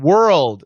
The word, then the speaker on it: world: to tell word and world so very different word is one syllable word word world it's three parts but two syllables so it's wor rolled with a stop d so word world word